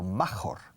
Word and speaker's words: major: And in most major highways, principales carreteras, major, escrito major, pero se pronuncia may, como el mes de mayo, major, casi como la primera sílaba, como cuando dices iglesia, church, major.